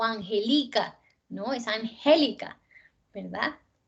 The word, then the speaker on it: Angélica: Es Angélica, ¿verdad?